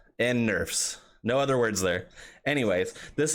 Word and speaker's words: Nerfs: Buffs, as in I'm buff, and Nerf, as in like the gun that shoots like foam bullets, right? Buffs and Nerfs.